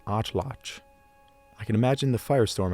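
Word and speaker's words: atlatl: And a lot of people don't know this, but it's not an atladdal or atal atal. It's a nwatch word and it's pronounced atlotch.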